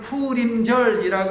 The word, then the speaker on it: 부림절: 부림절. 부르라는 이름 때문에 부림이라고 불렀대요. 자, 따라해 볼게요. 푸르. 예, 부르의 정확한 발음은 푸르입니다. 정확히 얘기하면 푸림절이라고 하는 것이 이게 맞는 발음이고요.